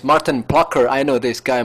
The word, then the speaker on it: Maarten: It's pronounced Maarten. Maarten, oh, okay, Maarten. But most people who speak English just say Maarten.